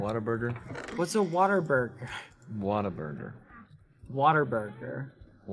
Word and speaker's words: Whataburger: Waterburger. Whataburger. What's a Waterburger? Whataburger. Waterburger. Whataburger. You're mispronouncing water.